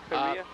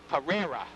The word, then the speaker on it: Pereira: Is that how that's pronounced, Bernie? Perea? Pereira. Pereira. Pereira.